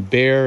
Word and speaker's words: Bexar: at Little, it's Little, and then Bear is spelled BEXAR, and then Farm, FARM, and the Bear comes from Bexar County in San Antonio, where I grew up.